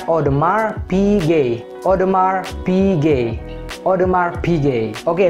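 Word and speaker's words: Audemars Piguet: saya yang bacanya odemars piguet atau odemars pij tapi originally atau seharusnya ini dibaca odemar pg odemar pg odemar pg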